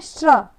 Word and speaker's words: श्र: श्र, श्र, श्र बोलते हैं, और साथ में र का भी उच्चारण होता है थोड़ा सा।